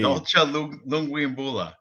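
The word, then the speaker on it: Dalcha Lungiambula: That was one of the best pronunciations of that name. Dolce Lunguimbula.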